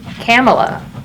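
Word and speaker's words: Kamala: She pronounces her name Camela. Like Pamela.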